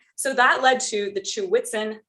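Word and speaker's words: Ch'weghtsen: Okay, so that led to the Chew-Witzen method. I'll describe where the word came from in a moment, but that is how you pronounce it.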